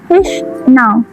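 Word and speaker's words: H₀: The null hypothesis, pronounced as H null, states that the mean reduction of drug B is less than or equal to drug A.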